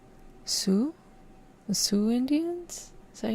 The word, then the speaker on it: Sioux: Sue, that's how you pronounce.